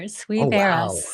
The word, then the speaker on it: Suivera: SuVera? You are. SuVera.